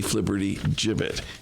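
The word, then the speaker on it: flibbertigibbet: of a Flippy jibit by the way that is spelled f l i BB e r t g i BB T flibberty jibit it has a place in the dictionary did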